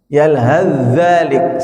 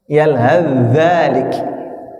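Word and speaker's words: يلهث ذلك: Bacanya gimana, Pak? Ya. Yalzalik. Seakan-akan tnya tidak ada. Yalzzalik.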